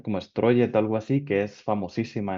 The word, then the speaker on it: Strøget: Otra anécdota, estoy visitando a mi tío en Copenhague, en Dinamarca, en esta calle peatonal que se pronuncia como Strøget, algo así, que es famosísima en Dinamarca porque hay comercios y tal.